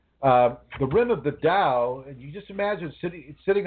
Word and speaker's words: Tao: plural in singular actually even though it's spelled t-a-u you pronounce it with it like a d-a-u uh the rim of the dao you just imagine sitting